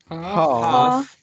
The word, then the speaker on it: half: Half. Es como que no se pronuncia la L. Exactly. You don't pronounce the L.